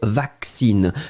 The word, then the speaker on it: vaccine: on va dire je vaccine. Souvenez-vous, hein, les deux C, vous allez prononcer comme si c'était x, je vaccine.